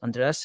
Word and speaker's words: Andres: my name's andreas it's you pronounce it like undress like undress your clothes or some stuff like that chris doe has my mentor my boss he he uh informed me that's what it sounds like so now i've been